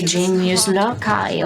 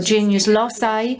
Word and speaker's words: genius loci: variety of pronunciations uh Americans would say genius Loi or genius Loi I decided to say genus Loi uh but it's a